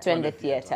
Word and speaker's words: Twende Theater: Twende Theater.